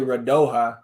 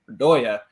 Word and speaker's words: Radoja: I keep wanting to say Radoja, but at least Adrian Healy was pronouncing it Radoya.